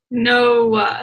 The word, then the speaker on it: Noah: He has a monosyllabic name. So boring. Automatically, yeah. Just garbage. Noah? Isn't that two syllables? Noah? Is it one? Noah. Oh my gosh, you're right. Two. I would say two. Yeah, it is two.